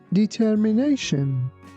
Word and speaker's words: determination: Here be careful that t i o n at the end of this word sounds like shen. That is why we say determination.